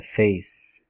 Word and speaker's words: face: Porque também esse E no final, ele é mudo, ele não tem som de E nem de I, ele é realmente mudo, ele não existe sonoramente falando.